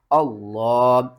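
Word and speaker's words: الله: سے پہلے زیر ہوگی تو لفظ اللہ کو باریک پڑھیں گے۔ الف کے اوپر جب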